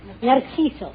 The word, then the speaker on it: Narciso: Narciso.